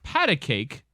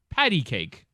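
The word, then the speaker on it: pat-a-cake: this is fairly interesting it's padded cake not patty cake yeah paddle cake yeah i know it's patty cake yeah i think i think most people in the audience would assume that it is patty cake but it's not it's pat dash a dash cake maybe it's a british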